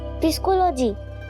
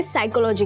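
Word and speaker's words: psychology: पिस्कोलॉजी किटू वो पिस्कोलॉजी नहीं होता है। पी साइलेंट होता है। इसे साइकोलॉजी कहते हैं।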